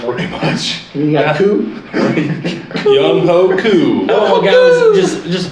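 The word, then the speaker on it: Younghoe: How do you go from the spelling of Young Ho to Yeah. Young Wei? Come on, guys, just say his name. It's Young Ho.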